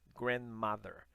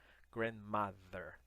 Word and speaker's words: grandmother: Então é grandmother, grandmother. Lembra do TH, a língua entre os dentes?